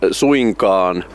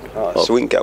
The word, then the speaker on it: suinkaan: Which in Finnish it's pronounced. It exists, but it's not. Suinkaan would be the Finnish version. Suinkaan.